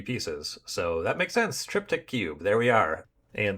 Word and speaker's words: Triptych: And that brings us to Triptych Cube. Triptych Cube. Apparently it's pronounced triptych.